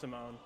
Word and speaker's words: Simon: yeah, it's spelled Simon, but it's pronounced Simone.